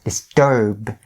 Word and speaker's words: disturb: that you do the same thing as I do right now, disturb, because you're going to get into some good habit of doing it enunciating the B sound. And when your pronunciation is better, you can actually stop it. And the stopped B sound is still really distinguishable or noticeable in native speakers' ears as well.